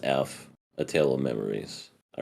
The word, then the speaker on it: ef: It's called EF, or it's just pronounced F.